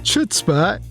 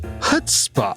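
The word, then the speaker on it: chutzpah: that's the word actually I don't think it's pronounced chutzpa that's how it's spelled I think it's pronounced HPA oh it's HSPA on this thing it says it rhymes with foot spa HPA okay well that's the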